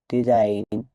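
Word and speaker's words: design: many Times silent থাকে silent letter জি জি এর পরে এন লেটার থাকলে সাধারণত জি সাইলেন্ট যখন জি এর পরে এন থাকে তখন জি উচ্চারিত হয় না উদাহরণ সাইন ডিজাইন পরেইন রেইন ক্যাম্পেইন এই শব্দগুলোতে জি এর পরে এন লেটার আছে তাই জি লেটার দিয়ে উজ্য থাকবে মানে উচ্চারণ হবে না বা সাইলেন্ট থাকবে জি এর পরে এইচ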